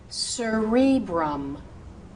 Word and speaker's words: cerebrum: If the word begins with the C and is followed by those vowels E, I, or U, that C should become an S sound, a soft C sound.